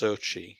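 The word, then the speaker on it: Xochitl: but i think it's her name is um pronounced differently to how it's spelt it's pronounced sochi you know first name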